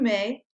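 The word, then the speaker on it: mettent: Most important thing for pronunciation is remember that all of these verbs that end with ent, they have a silent ending. We never pronounce the ENT on the end of verbs.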